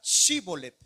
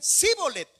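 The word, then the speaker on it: Shibolet: Note bien, hermanos, querían pasar al otro lado y lo único que ellos tenían que pronunciar y no solamente pronunciarlo, sino pronunciarlo bien y era la palabra chivolet. Y ellos porque no podían decían cíbolet.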